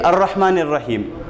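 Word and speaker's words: الرَّحْمَٰنِ الرَّحِيمِ: And because another thing, see, here we are saying Ar-Rahmanir-Rahim. Because this particular ayah is beginning with Hamzatul Wasl, we are pronouncing Hamzatul Wasl here.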